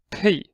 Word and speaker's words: Ⲡ: However, we pronounce it as pay. So actually calls pronounced pay. They pronounce pi in Greek, but however pronounce like pay. The same way we say may and nay, we say also pay.